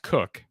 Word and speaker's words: Koch: it's actually announced koch it's actually announced koch now there are koch uh individuals who are pronounced cook but there are also